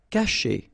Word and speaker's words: cacher: Cacher. Okay, so remember, when you combine this C and A, you get the sound K, okay? And then chez, caché.